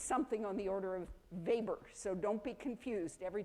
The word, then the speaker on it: Weber: Weber and that is w e BER spelled like Weber but all good sociologists pronounce it as if they knew how to pronounce it in German and it's something on the order of Weber so don't be confused